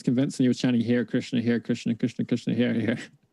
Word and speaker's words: Hare Krishna: How do I pronounce it? Is it Hare Krishna? Yeah, Hare Krishna.